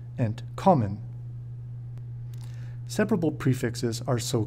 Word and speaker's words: entkommen: It is important to know that, when pronouncing inseparable prefix verbs, the root of the verb, and not the prefix, will be stressed, entkommen.